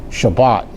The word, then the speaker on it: Shabbat: I'm not sure if you knew that or not, but when we say Sabbath, that is actually an English version. Shabbat is the Hebrew version.